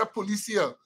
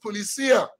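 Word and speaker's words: Policía: And now we say Policia, but my Spanish-speaking friend said the word is pronounced Policia, of the police vehicles.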